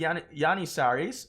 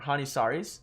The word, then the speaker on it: Janissaries: But I have the Yanissaries, or Hanisaris. Yanissaris, I think is the correct pronunciation. I'm not quite so sure.